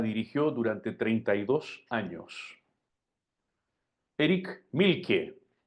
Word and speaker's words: Mielke: durante 32 años Eric milke se escribe mielke y con k muy parecido a Milk leche pero con una e y una e final una e intercalada y